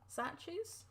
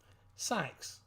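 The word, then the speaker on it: Sachs: Satches? Where's the E or the I in that? Sax.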